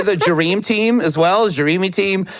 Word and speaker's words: Jereme: It's so hard to not say it just because of the way his name is written. I apologize, but it's spelled Jereme. It's Jereme. Like a Jereme-filled donut.